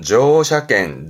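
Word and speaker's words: 乗車券: 발음은 조샤겐, 조샤겐.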